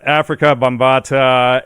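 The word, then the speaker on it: Afrika Bambaataa: You sent me an article to read on how do you pronounce his name? Let's see here. Africa Bambaataa. Yeah, Africa Bambaataa, and which goes into all of this history.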